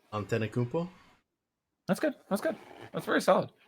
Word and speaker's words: Antetokounmpo: How do you pronounce Giannis's last name? Antetokounmpo.